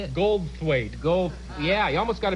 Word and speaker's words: Goldthwait: Goldthwaite.